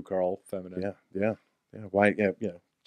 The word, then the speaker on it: Carl: Don't assume it's Quarrel. It's not Quarrel. It's not how the fucking protagonist from The Walking Dead pronounces it. Quarrel. It's Carl.